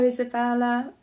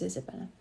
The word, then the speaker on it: Isabella: Hello, Isabella. Oh, yes, Isabella. Sorry, I just wondered if it was Isabel, but it's Isabella.